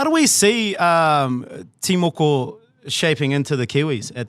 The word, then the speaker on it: Timoko: So Timoko is the Timoko. correct pronunciation of Matt Timoko.